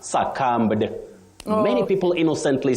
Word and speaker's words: succumb: avoid is saying suum succumb no because the B at the end of that word is silent you say succumb to succumb not succumb mhm okay that's interesting so